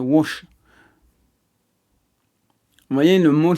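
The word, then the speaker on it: Łódź: Ça se prononce Lotz. Vous voyez, il y a écrit Lotz, mais c'est Wash.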